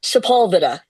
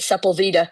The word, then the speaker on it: Sepulveda: I was calling it Sepulveda. When y'all Right. pronounce this the right way, we all put the wrong emphasis on the wrong syllable because of heritage, Exactly.